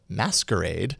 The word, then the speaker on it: MSQRD: way an app called msqrd but meant to be pronounced as masquerade is here to creep